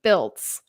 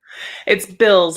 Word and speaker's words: Bilz: today I have Ashley builts oh my gosh did I did I pronounce that correctly it's bills like the ones you pay but spelled a little different Ashley bills everybody um I have